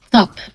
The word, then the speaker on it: Cap: So, uh, for anyone who doesn't know how to pronounce my last name, let's start there. Oh, yeah. Uh, my name is Top, and that's how you pronounce the Slavic last name.